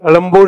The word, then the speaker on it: Egmore: Chennai, Elambur is the correct way to pronounce, right? Anybody from Tamil? Vanakkam, sir. Elambur is the right way? Not Egmore, na? We should change the spelling also.